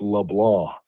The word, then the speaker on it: LeBlanc: It looks like LeBlanc, but it's pronounced LeBlanc. It's like a French Cajun pronunciation, and it'll become a